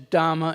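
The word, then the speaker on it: dhamma: up the fact that you may have heard a a couple words in here that sound like they're being mispronounced and they're not and that is dhama and suta you know we often hear the words Dharma and Sutra which are the Sanskrit words but Buddha didn't speak Sanskrit Buddhist spoke a language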